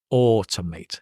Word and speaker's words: automate: Actually, I would, if it were me, I would put the R because it sounds like an R. Automate.